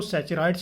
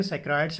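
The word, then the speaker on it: saccharides: इसको हम बच्चों सैचराइड्स भी बोलते हैं, सैकेराइड्स भी बोलते हैं। अब वो डिपेंड करेगा आपकी प्रोनाउंसिएशन के अकॉर्डिंग।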